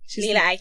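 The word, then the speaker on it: Lila Iké: Her name's Leela Ike. Leela Ike, yeah. Ike? Yeah. Ike. We get her name wrong as well.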